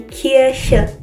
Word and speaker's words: Kirche: Die Kirche. The CH here is more of a a snake sound at the back of your mouth.